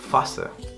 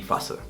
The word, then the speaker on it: Phase: O PH al principio de palabra también va a sonar como una F. Die Phase, die Phase.